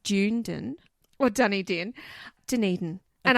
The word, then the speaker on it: Dunedin: It's Dunedin, is it? Dunedin. Dunedin. Right. Dunedin. I mean, you could look at it and think it was pronounced Dunedin or Dunedin.